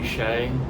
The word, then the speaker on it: Hsieh: Today's book of the day is Delivering Happiness by Hsieh, and I know that isn't what it looks like his name is pronounced as, but it is.